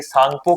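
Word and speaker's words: Tsangpo: टी इसमें silent रहता है और इसे सांगपो के नाम से जाना जाता है।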